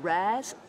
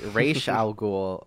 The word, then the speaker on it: Ra's al Ghul: Mr. Raz? No, you're not pronouncing it right. It's Ra's al Ghul, old lady.